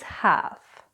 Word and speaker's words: half: We don't actually pronounce the L so it's not calf it's calf it's not half it's half and the last set